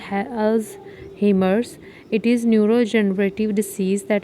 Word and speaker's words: Alzheimer's: अलजीमिया disease dementia की common cause है। Dementia क्या होता है? Loss of memory. अल्जीमिया is pronounced Al अल्स हेमर्स।